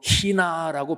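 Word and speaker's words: ἵνα: 이는 헬라어 발음으로 히나라고 발음하는 단어인데, 히나, 너희가 열매를 맺고 그 열매가 계속된다.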